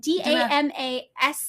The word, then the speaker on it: Damascene: Yeah, it's Damascene. Oh, Damascene? Our podcast is not about pronunciation.